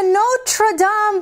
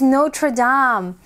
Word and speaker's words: Notre Dame: Ah, look, this is Notre Dame. You also hear it pronounced in English as Notre Dame, but Notre Dame is the cathedral of Paris.